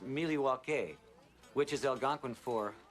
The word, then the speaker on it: Milwaukee: Indian name yes Pete it is actually it's pronounced milake which is El gonin for the good land